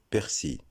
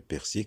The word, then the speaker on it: persil: Deuxième mot, persil. Le persil, comme on le sait, est une plante aromatique utilisée en cuisine. C'est faux de dire persil. Le L final est muet. Donc la bonne prononciation, c'est persil.